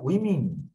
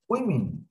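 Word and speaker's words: women: এম এন ম্যান, এম এন মেন, ডাব্লিউ এ ও এম এন ওমেন, পুরুলে করতে গেলে উচ্চারণ হয় উইমিন। সবাই একটু শোনো, ওমেন উইমিন, অনেকে না বলছে এটা উইমেন বলে, আসলে এটা উইমিন।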